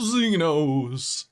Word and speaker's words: Zenos: getting back into the tomb of Zeno which is how it's pronounced in the traditional arcosian style uh here beneath the